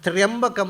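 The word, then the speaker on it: ತ್ರ್ಯಂಬಕಂ: ಮಂತ್ರ ಮೃತ್ಯುಂಜಯ ಮಂತ್ರ ಅದೇ ತ್ರಿಯಂಬಕ ಮಂತ್ರ ಅದನ್ನ ಬರೆಯುವಾಗ ತ್ರಯಂಬಕ ಅಂತ ಬರೀತಾರೆ ತ್ರಿಯಂಬಕ ಅಂತ ಬರೀತಾರೆ ಕೆಲವರು ಈಗ ಓದಲಿಕ್ಕೆ ಸೌರ್ಯಕ್ಕೋಸ್ಕರ ಹಿಂದೆ ಹಾಗೆ ಬರೀತಾ ಇರಲಿಲ್ಲ ಅದನ್ನ ತ್ರಯಂಬಕಂ ಅಂತ ಬರೆಯುವುದು ಓದುವುದು ಹೇಗೆ ತ್ರಿಯಂಬಕಂ ಯಜಾಮಹೆ ಅದು ಹೇಗೆ ಅಂದ್ರೆ ಗಾಯತ್ರಿಯಲ್ಲಿ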